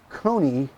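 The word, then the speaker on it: Koni: cue up this week's Kony tech tip of the week hi this is league rhymes with coney shock-absorbers we recently did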